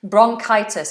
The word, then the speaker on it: bronchitis: there's lots of medical terms coming out here bronchitis is when you have a cough you have